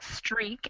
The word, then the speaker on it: streak: difference between these words the vowel break is open a string is close yeah it is a little more closed so that break is a little wider more of an a sound and the other two are like a long e sound all right next line